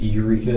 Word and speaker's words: Eureka: It's Eureka. It's E U R E K A. Oh, okay. It's the other one. Yeah. Like Eureka Arcade area.